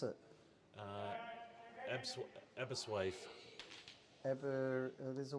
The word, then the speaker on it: Aberystwyth: Pronounce it. Aberystwyth. There's a Y there. Aberystwyth.